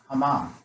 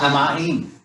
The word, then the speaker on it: Hamayim: Hamam. No. It's 3 syllables. Hamayam. What's this? What's this? Oh, Hamayim.